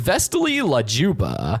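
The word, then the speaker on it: Vesti la giubba: The song that plays as Banana Joe points to Gumball and Darwin is the Visti Luba, pronounced Vestily Lajuba by Regro Leon Cavalo.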